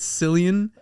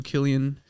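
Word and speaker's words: Cillian: played by killan Murphy by the way I mispronounced his name last episode I said San I I feel stupid so my apologies to Killian uh Murphy but so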